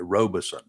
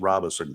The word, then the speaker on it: Robeson: to screw up royally one is Robeson County they call it Robison nope it's Robinson County and the other one